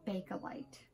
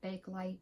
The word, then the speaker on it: Bakelite: This is an antique piece of Bakelite. A lot of people pronounce it Bakelite, but I'm told the proper name is Bakelite because I was saying it wrong.